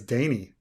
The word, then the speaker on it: Dany: brain or yeah ah i pronounce danny as dany yeah you know i could see that i could i mean with a single n kind of makes sense the only i think